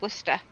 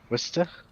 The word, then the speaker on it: Worcester: yes I can tell you how to say Worcester Worcester it's Worcester is how you say it it